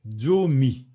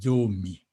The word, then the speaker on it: zomi: 10, c'est Zomi. Zomi. Zomi. Zomi. Donc, ça se lit, ça s'écrit Z, mais le Z se prononce comme s'il y avait D et Z. Donc, c'est fort. Donc, c'est Zomi.